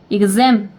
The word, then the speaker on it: exam: 그 다음에 zem이거든요. zem의 강세 있죠. 뒤쪽에 강세 있기 때문에 exam 이렇게 됩니다.